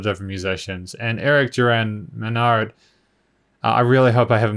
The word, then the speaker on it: Manard: is may not sorry the only reason i'm not saying maynard is because i'm used to it being a why like maywe in a rd so if it is